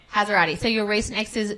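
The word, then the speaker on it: Hassarati: Well, look, speaking of your ex, your recent ex is Georgia how do you pronounce it? Hazarati. Hazarati.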